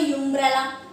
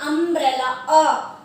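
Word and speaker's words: umbrella: ये भी होता है, आप बोले यूम्ब्रेला, तो दैट इज तो रॉन्ग, फिर तो आप कभी करेक्ट कर ही नहीं सकेंगे। इससे सबसे पहले आप अपने प्रोनाउंसिएशन पर पूरा ध्यान दीजिए। तो according to the pronunciation we pronunciate it अम्ब्रेला, तो यहाँ पर आएगा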